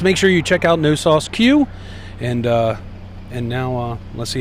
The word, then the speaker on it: No Sauce Que: No Sauce Q, Q-U-E is how it's spelt.